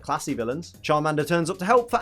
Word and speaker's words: Charmander: you'd even think that we would pronounce Charmander as chowmander Charmander but of course what